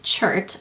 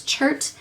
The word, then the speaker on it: chert: oh this is from my geology pilbara palette okay so the shade is chart I'm I think that's the correct way to pronounce it I looked it up and I think it's chert it's spelled c-h-e-r-t and this is a